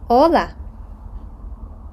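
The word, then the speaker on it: hola: і давати свою інтерпретацію літера а ч аче яка не читається Ола спробуйте поставити на паузу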